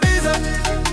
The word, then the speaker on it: bise: Si tu dis baisse, comme on te fait payer le maximum. Si tu dis bise, comme on te fait un prix sur ta com. Non déconne mais prononce bien.